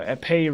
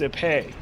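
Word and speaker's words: épée: Epee rapier. The epee rapier. That's how it's pronounced.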